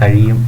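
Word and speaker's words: χ: ഇതൊരു എക്സ് അല്ല, പ്രത്യേകം ശ്രദ്ധിക്കണം. കാണുമ്പോൾ നമ്മൾ എക്സ് പോലെ തോന്നുമെങ്കിലും ഇത് എക്സ് അല്ല, ഗ്രീക്ക് ലെറ്ററാണ്. ഇത് പ്രൊനൗൺസ് ചെയ്യുന്നത് കൈ എന്നാണ്. കൈ pronounced as കൈ.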